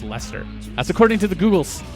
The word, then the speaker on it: Leicester: of the name because the way it's spelled does not say Lester and when I looked it up it was spelled phonetically so I checked it out and it's it's pronounced Lester that's according to the